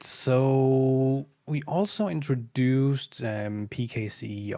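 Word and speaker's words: PKCE: we also introduced um pkc or pixie as as it's apparently pronounced and this is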